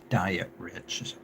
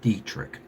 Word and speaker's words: Dietrich: let me promo him Douglas diet rich pronounced drick he does a podcast